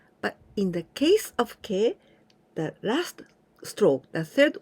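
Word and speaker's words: け: This is ke. K and E sound. Ke. Very similar, right? But in the case of ke, the last stroke, the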